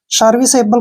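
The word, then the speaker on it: serviceable: pronounce हम ल करेंगे जब भी लास्ट में ई आता है तो उसका प्रोनाउंस हम नहीं करते हैं देखिए आसान हो गया ना सर्विस एबल सर्विसेबल का मतलब होता है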